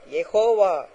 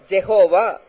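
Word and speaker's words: Jehovah: யகோவா என்பது தேவனுடைய நாமம் இதை யகோவா என்றும் யாவே என்றும் எபரேய பாஷையிலே சொல்லுவார்கள் ஏனென்றால் இது உச்சரிக்க கூடாதபடியான ஒரு பரிசுத்தமான ஒரு நாமம் எனவே உயிரெழுத்தி இல்லாமல் மெய்யெழுத்துக்களை மாத்திரம் கொண்டு அமைந்த ஒரு நாமம் வைஹச்யூஹ அல்லது வைஹச்விஹச் என்றே எழுதப்பட்டிருந்தது இதை உச்சரிக்க வேண்டும் என்பதற்காக ஒரு ஈ ஒரு ஓ ஆ சேர்த்து யகோவா ஜெகோவா என்று அழைத்தனர் இதற்கு அர்த்தம் என்னவென்றால் தி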